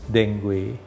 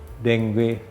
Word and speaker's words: dengue: Pertama dia dimasuki virus dengue, namanya dengue. Kita bacanya dengue, tulisnya dengue. Dengue sebetulnya. Itu bahasa Afrika itu. Sebentar. Dengue. Spellingnya gimana, dengue. Dok? Dengue. Nah, tapi dibacanya dengue. Dengue. U-nya tidak terbaca.